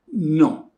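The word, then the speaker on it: non: answer negative you say no there is one thing you have to be careful don't pronounce the n the sound is not there is no there is no n uzette angles e so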